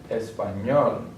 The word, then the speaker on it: español: The stress sound is going to be on the last syllable. Usted, español, profesor.